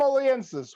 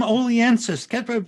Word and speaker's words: Oliensis: we have a special guest tonight funnyman aliensis what's your name oliensis we practiced this before the show tom he pronounced it correctly which puts him ahead of